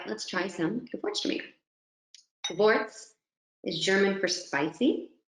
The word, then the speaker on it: Gewürztraminer: So it's a V on that W pronunciation, German word, Gewürztraminer.